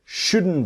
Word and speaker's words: shouldn't: So the T in just is silent and the T in shouldn't is silent.